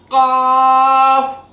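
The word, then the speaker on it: قاف: This Qaaf is produced when we raise our root of the tongue, the last portion of the tongue which is attached to the lower portion of our mouth.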